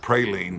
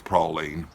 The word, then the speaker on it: praline: want to call it some places they pronounce it praline but they're just wrong it's prolly all right um my